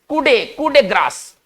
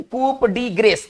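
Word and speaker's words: coup de grâce: देखिए French word क्या कर रहा है, इसको किस तरह से पढ़ेंगे? कूडे ग्रास ना, एक साथ पढ़ेंगे ना, ऐसे नहीं कि कूप डी ग्रेस, ऐसे नहीं, ठीक है ना, ये उच्चारण इसका थोड़ा सा भिन्न होगा।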